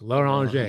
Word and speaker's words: Loranger: So if orange, it's orange. It's Loranger.